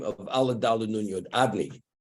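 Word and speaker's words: Adonai: Allah Dalu Nun Yud, Adni, like master. That's the pronunciation. So that's Shmi L'Olam, La'aleim. My name, when you say my name, it should be concealed. It should be concealed. It should not be pronounced as it's written.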